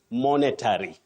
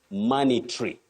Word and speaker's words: monetary: come to this word many people innocently say monetary monetary no you say monetary mry you can check the phonetic transcription which I have given at the bottom of the word mry not monetary then if you have